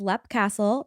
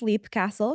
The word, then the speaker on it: Leap Castle: So that is Lep Castle, not to be confused with Leap Castle, because that's not how you say it.